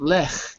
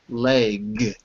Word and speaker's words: leg: By the way, pronunciation, not lech, but leg.